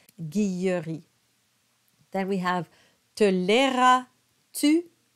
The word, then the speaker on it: Guilleri: m is silent and you have that yes sound with the Double L guilleri then we have tolera